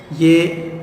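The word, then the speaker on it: ewe: रैम ये sheep इसका मुज़क्कर, और ये जो वर्ड है इसको पढ़ते हैं यू, जिस तरह YOU को हम प्रोनाउंस करते हैं वैसे ही इसको पढ़ते हैं यू।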